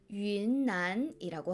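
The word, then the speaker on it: 云南: 중국어로는 윈난이라고 합니다. 다음은 비가 쏟아지는 계절 우기입니다. 중국어로는 위지라고 발음해요.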